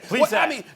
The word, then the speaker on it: Plesac: Plesac, is that how you pronounce his name? Plesac or Plesac? What is it? Plesac.